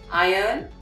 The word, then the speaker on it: iron: it's not iron it's iron the r is quiet or it is made